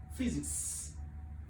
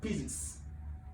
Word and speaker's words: physics: because of our dialect this pH Y is pronounced as F so physics physics not physics so this is one